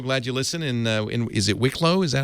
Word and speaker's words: Wicklow: Is it Wicklow? Is that how you pronounce it? That's in Wicklow, yeah.